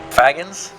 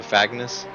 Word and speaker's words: Fagnes: Fagans. Well, it'd be like, yeah, it'd be like Agnes with an F in front of it, so Fagnes. Fagnes.